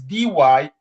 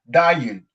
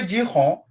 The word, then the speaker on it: Dyhon: So Ah, with Brazilian, the way they pronounce is like dying. Dying for most of them. And others say Dion. Dyhon. You say Dyhon. And when I listen Dion. Dyhon, I say, but this is not me.